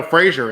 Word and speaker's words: Frazier: So, is it, first of all, did I pronounce that right? Is it Frazier or Frazier? No, Frazier, and it sounds much better with your accent.